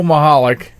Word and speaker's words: Michalec: to the new listeners it's spelled mich al ec mahalik calm well you you what